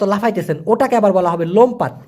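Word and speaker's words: lompat: ওটাকে আবার বলা হবে লোমপাত এল ও এম পি এ টি উচ্চারণ হবে লোম পাত লোমপাত মানে লাফানো আর তেরুন মানে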